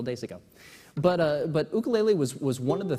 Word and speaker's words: ukulele: of the things about ukulele and that's actually the the Hawaiian pronun pronunciation the the American British version is ukulele uh they're both valid I just I know